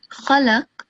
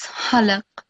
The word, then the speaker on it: خلق: So here the word is khalaq, but you recited it as halaq. So you can hear the difference, right? In ha and qa.